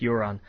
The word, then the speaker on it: Euron: Get over it, it's pronounced Euron.